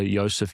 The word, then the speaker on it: Josef: my YouTube channel, it's the Dr. Yseph YouTube channel. That's. It's spelled in the German way.